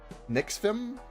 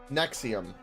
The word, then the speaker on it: NXIVM: Um, how do you how would you even pronounce that? Nixfim or Nejiv or Nivam. Maybe maybe he's foreign. I'm going say the NXIVM cult. Does it? You said two lines lower. Oh, Nexium.